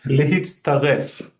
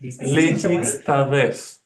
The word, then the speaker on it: להצטרף: But lehitztaref. So I kind of, in the transliteration, kind of broke it down a little bit. Lehitztaref. Lehitztaref. Just have to practice it.